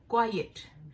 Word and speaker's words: quiet: तो एक तो इसकी जो प्रोनाउंसिएशन है क्वाइट।